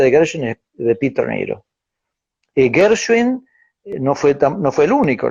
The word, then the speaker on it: Nero: Peter Niro, se escribe Nero el apellido, Ok, como Nerón en sí.